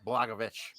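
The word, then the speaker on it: Błachowicz: Pereira and Jan blagovic I think that's how they pronounce it blagovic yep yet young blackaby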